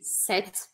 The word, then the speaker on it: cet: A gente usa esse set. A gente fala assim, ó, set, set, quase sete, mas esse final é mais curtinho, set.